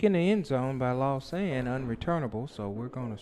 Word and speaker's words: Lausanne: Is that how you pronounce it? Lausanne.